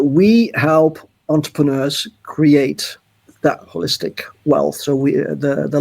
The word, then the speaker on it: Wholistic: company and holistic starting with a W like hole hole so do you pronounce it holistic yes we do the whole because it's you know